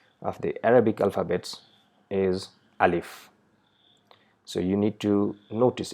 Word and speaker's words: alif: mouth inside our mouth we just pronounce simply with the sound uh and join it with Leaf so it becomes alif so there is no